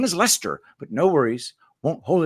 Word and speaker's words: Leicester: I can't believe I said it was Leicester. I just couldn't believe it'd be Lester because that's just Lester, Lester.